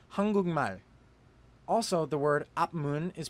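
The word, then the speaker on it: 한국말: It is hang guk mal. But because the giot in guk meets the nasal character mium, the giot turns into the character iung, so the word is pronounced hangugmal.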